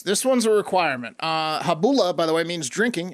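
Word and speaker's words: Gabola: shack sabbath uh the habula church uh silent g g-a-b-o-l-a if you want to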